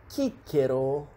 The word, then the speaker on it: Cicero: in "portus" (harbour), /k/ as in "CIcero" or Caesar, yes, that's how these names were pronunced, it was represented by the letter "cee", "ca", "ce", "ci", "co", cu" always.